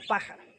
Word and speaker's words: pájaro: Por ejemplo, bolígrafo, que lleva acento en la LI, bolígrafo, o pájaro, lleva en la antepenúltima sílaba.